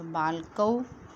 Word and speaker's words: बालकः: बालकः, इसके पीछे जो विसर्ग लगी है इसको हम क्या उच्चारण करेंगे? है। इसे बोलते हैं विसर्ग और इसको है उच्चारण करेंगे।